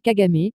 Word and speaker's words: Kagame: environs de syrte 5 paul kagamé paul kagame prononcé pl kagame né le 23 octobre 1957 à tambour et